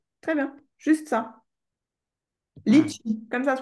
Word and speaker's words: litchi: ah, Litchi. Comme ça se prononce.